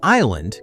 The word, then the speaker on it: island: How island got a random s jammed in from isle. Island is one of those words where spelling and pronunciation flatly refuse cooperation. Old English used eligand or